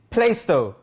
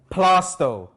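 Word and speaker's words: Plaistow: local area for me some would say playstore but it's plasto plasto this is an essex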